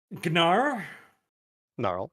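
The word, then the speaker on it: Gnarl: why all right so gar narl make sure to pronounce the G narl goes up through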